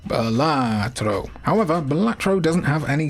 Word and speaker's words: Balatro: It is a dangerously addictive little digital gem, and it's very fun to say it like how Brad Pitt says Gorlami in Inglourious Bastards. Balatro.